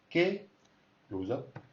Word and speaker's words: qué: ¿Qué goes up? ¿Qué quieres? So ¿qué? It's got the tonic accent, and mer has got the tonic accent on the other word.